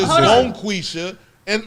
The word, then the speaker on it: Bonquisha: No, see, I can see how No, it's she Bonquisha. could be sensitive Bonquisha, about it. B-O-N. That's how you spell it. B-O-N space Oh, so he's Q-U-I. Bonquisha.